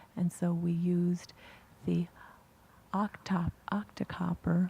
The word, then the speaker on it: Octocopter: And so we used the Octocopter. I don't think the interpreter's pronouncing it correctly, but it's "O-c-t" instead of helicopter.